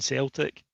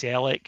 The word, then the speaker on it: Celtic: I've always pronounced my T's deliberately because Celtic fans don't say the T in Celtic.